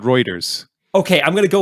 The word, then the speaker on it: Reuters: And I've actually said, I think I've said routers before. Is it Reuters, routers, or routers? I've always called it Reuters.